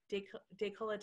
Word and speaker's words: décolletage: Is it décolletage? How do you say it? Yeah, that sounds good. I think you got it right.